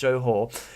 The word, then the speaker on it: Johor: I believe that's pronounced Johor.